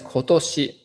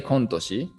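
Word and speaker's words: 今年: the next one is kotoshi kotoshi so here kon actually is changed in its pronunciation ko rei ko depend on this second kanji toshi we don't say kontoshi instead which means this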